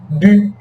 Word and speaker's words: bu: Ó, é como se eu estivesse falando U, a boca do U e o som do I. Bu.